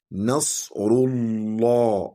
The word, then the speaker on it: نصر الله: If for instance, the ra'un there is carrying fatha, for instance, we say Nasrullah. However, if the ra'un is carrying what? Kisra. That's when we will say Nasrillah. So the correct pronunciation here is what? Nasrullah, Allah.